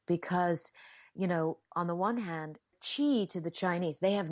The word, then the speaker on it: qi: And would the Chinese word, I think sometimes it is spelled QI in your book, and some places do it as XI or something, but it's Qi. Qi, yes.